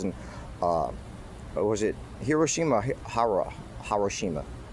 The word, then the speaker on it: Hiroshima: Hariroshima. How do you pronounce it? Hiroshima. Hiroshima.